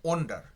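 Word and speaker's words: wonder: মনে রাখবো ডব এনটার উচ্চারণ হচ্ছে ওয়ান্ডার। আর ডব ও এন এটার উচ্চ হচ্ছে ওন্ডার। ঠিক আছে?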